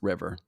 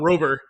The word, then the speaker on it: RVR: It's on Abkini and the new name is RVR which is supposed to be pronounced river. Oh, I thought Rover.